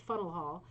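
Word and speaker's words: Faneuil Hall: top of fennel hall properly pronounced funnel hall in boston is a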